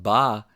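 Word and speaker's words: 八: the world for example the number eight pronounced ba is lucky in China because it sounds like wealth pronounced fa we also see myths and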